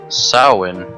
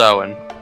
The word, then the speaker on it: Samhain: this on the sacred oh it's pronounced soin I don't look it up when I think it's pronounced Owen that is weird